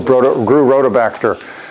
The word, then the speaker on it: Rhodobacter: Yeah, I've grew rhodobacter. Yeah? Yeah. Cool. I didn't know how to pronounce that.